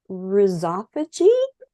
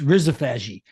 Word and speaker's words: rhizophagy: - Well, you know, listen, it's, I say rhizo phagy. Now let's, let me give you a little deep background into this. This is a discovery that was made in Australia around 2010. And so the pronunciation that originally associated with the word was an Australian pronunciation. It took me a long time to figure this out. And so that's why sometimes when you, when you hear it on the internet, it's rizophaghy or, you know, no, it's rhizo, meaning root, phagy, eating.